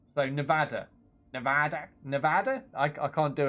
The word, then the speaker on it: Nevada: a pass okay so proper pronunciation is a short a so Nevada like that but it